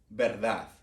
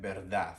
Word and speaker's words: verdad: Verdad, verdad, all right? So remember how the letter V and B could be used interchangeably? So you can literally say verdad or verdad, right?